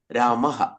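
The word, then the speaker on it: രാമഃ: അപ്പോ കുട്ടികളടുക്ക് അതിന്റെ മുമ്പുള്ള സ്വരത്തിന്റെ ചായയില അകാരമാണെങ്കിൽ ബാലഹ രാമഹ രാമഹ ഇ ആണെങ്കിൽ ഹരിഹി ഗുരു ആണെങ്കിൽ ഗുരുഹു ഔ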